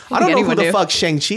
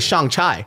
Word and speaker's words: Shang-Chi: dude shang-chi is I was mispronouncing it the whole time I was calling a Shang chai you know who the